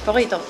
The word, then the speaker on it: Phorrito: Bon, j'y suis, donc on est à Forito. Ça se prononce comme ça? C'est ça, Forito.